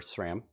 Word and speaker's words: Sram: worried yeah um but I'm going to play SRAM obviously or SRAM sorry I keep getting that name wrong uh and then I'm gonna play Spear